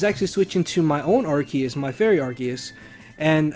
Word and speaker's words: Arceus: And if you're wondering why I'm pronouncing it Arceus instead of Arceus, it's because I've had people comment on my videos saying, well, why are you saying it like Arceus? Arce is ass or butt in British terms.